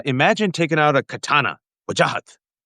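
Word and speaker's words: Wajahat: Okay, this is how you pronounce it. If you want to be a a Midwestern safe white teacher, you'd say wajahhat.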